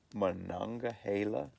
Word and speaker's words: Monongahela: We're sitting out here at the Monongahela He said it right. State Forest Monongahela.